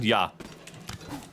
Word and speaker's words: ja: How do you say yes in German? Yah. It's yah in German.